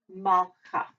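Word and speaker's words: מלכה: Mal, because that two dots there is our schwa or a stop. If you can stop, you do. Malcha.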